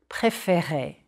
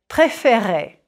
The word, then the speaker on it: préférer: Préférer. Smile a bit when you say those E accent aigu. Et. Préférer. Je préfère. It's the accent change that opens up the second E.